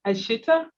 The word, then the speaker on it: Ashita: I think it's pronounced Ashita. Beautiful, yeah. Yes, another lovely name.